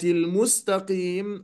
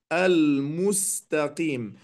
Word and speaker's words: المستقيم: المستقيم، هنا السين تقلب صادا. لماذا؟ لأنه قبلها قد نطقها صادا فيقول اهدنا الصراط المستقيم، هذا خطأ، وإنما أقول المستقيم. وتتبدل القاف بعدها كافا، يقول المستقيم إذا أراد أن يأتي بها صحيحة، وهذا ليس بصحيح، وإنما قي.